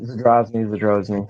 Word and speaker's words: Zadrozny: Zadrozny. Is that pronounced correctly? Yeah, just Zadrozny, something like that.